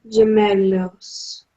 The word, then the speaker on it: gemelos: Son gemelos. Son gemelos. Gemelos. Okay, gemelos. Remember, G followed by I or E says that rasping H sound.